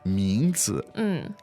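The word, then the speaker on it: 名字: So it's second and neutral tone.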